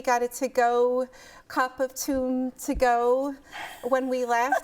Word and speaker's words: toum: Toum. Toum.